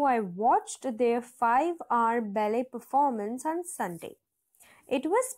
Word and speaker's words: ballet: of this word is ballet the last letter is ENT that is T and the second syllable is pronounced as Le So balet and I've given you